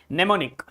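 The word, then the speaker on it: mnemonic: Nemonic. Nemonic. Nemonic. Neimmonic in this word M is silent and pneummonic is a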